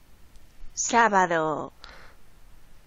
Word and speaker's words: sábado: Begins with S-A, but it's got an accent on the A. I'm going to click on the yep. speaker. Sábado. Oh, it's one of those B's again, isn't it? The B makes a really odd sound.